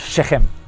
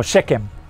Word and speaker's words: Shechem: biblic biblical times in the bible is called shechem or shechem however you want to pronounce it in hebrew the first time second